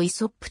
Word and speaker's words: イソップ: も用いられた愛想ポーズの英語表記良いサーブをイソップと発音するようになったのは本省の題名によるものである本書の挿絵を